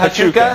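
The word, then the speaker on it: Huachuca: I have no idea how to pronounce it. Hachuka. Is it Hachuka?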